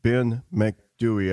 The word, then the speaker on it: Ben Macdui: Now we're going from Green Children to the Big Gray Man of Ben Macdui. Am I pronouncing that name right?